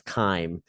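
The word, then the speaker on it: chyme: stomach is known as K or chime is how it's spelled but it's Kim and it's highlighted there on 429 CH h yme k okay um K is just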